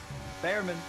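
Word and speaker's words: Bearman: Behrman. You know it's pronounced Beerman, don't you?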